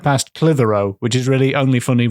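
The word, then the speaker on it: Clitheroe: they swept right past clithero which is really only funny written down yes and we can't say why it's funny so just see how it's spelled it sounds like if you think about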